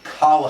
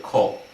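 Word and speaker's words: כָּל: They all know it's supposed to be pronounced like kol.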